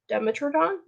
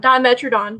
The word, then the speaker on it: Dimetrodon: the fan's government name is a dimetrodon demetron dimetrodon dimetrodon there we go syllables dimetrodon he looks he's got